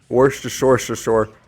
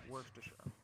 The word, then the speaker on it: Worcestershire: You're so right, Worcestershire.